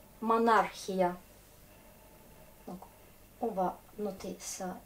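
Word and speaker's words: монархия: Ah ben, en russe, ces combinaisons CH, c'est souvent se prononce comme Kha. Monarchie, par exemple, monarchia.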